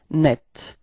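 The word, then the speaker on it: nette: quite interesting because the the feminine form is written in a different way but it's pronounced the same way so it's net repeat net okay and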